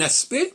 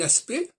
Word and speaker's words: aspect: Quand je dis un aspect, par exemple, un aspect, je ne prononce ni le C ni le T de aspect, c'est le E qui